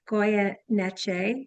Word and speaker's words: Goyeneche: Welcome, Goyeneche. did I pronounce that properly?